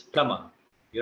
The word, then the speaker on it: plumber: No, no, it's plumber. You don't have to pronounce B.